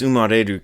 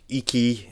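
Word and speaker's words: 生: So this umareru character, this iki, it could be iki or sho or umareru, has multiple pronunciations.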